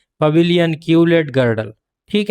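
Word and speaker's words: culet: है इसको बोलते हैं क्यूलेट। क्यूलेट अक्सर लोग इसे कल्ट बोलते हैं लेकिन कल्ट ठीक प्रोनाउंसिएशन नहीं है। सो यह क्यूलेट है।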